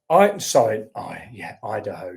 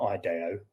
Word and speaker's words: Idaho: Idaho, not Ideo. Why am I saying Ideo? Bloody hell. Yeah, Idaho.